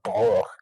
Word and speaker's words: Droege: And I think Droege's how you pronounce the last name.